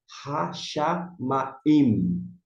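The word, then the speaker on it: השמים: didáticos, para aprendizagem, inicialmente, você pronunciar, marcar assim, Hashamaim. Hashamaim. Porque você marcou, você está destacando, está dando uma ênfase. Talvez, no seu caso, fique melhor. Agora, se você quiser pronunciar como nós comumente falamos, Hashamai, perfeito.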